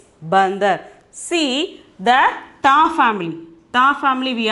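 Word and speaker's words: बंदर: Okay, ba, da, ra, but the pronunciation is bandar.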